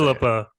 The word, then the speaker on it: Phillipa: Phillipa. Accent on the first syllable.